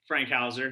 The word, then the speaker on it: Frankhauser: uh as mark mentioned my name is frankhauser that's how you pronounce that uh i've been with truly since 2016.